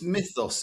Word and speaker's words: mythos: how to say myos mythos there's a lot of pronunciation even in a meeting last time with client in IBM I think it's mythos if you've got the English uh annunciation I will I